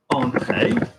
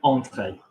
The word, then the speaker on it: entrée: Okay, so if I had, for example, entrée, to enter, that's an en. So remember, on the table, entrée.